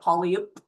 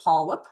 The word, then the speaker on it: polyp: Looks like polyup but polip.